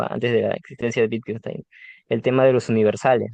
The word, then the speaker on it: Wittgenstein: Entonces, su nombre se pronuncia Wittgenstein, ¿no? Porque la W en alemán se pronuncia em, como una B, ¿no?